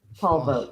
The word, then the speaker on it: Polvogt: at Polvogt, like politics and vote.